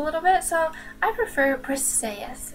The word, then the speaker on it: Briseis: some people pronounce it breesius but that's kind of weird sounding makes you squish your face up a little bit so I prefer press say yes it's pretty and flowy so yeah you